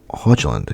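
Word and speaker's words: Haaland: Literally this man Hoyland Huland. Yeah, that's pronouncing it right.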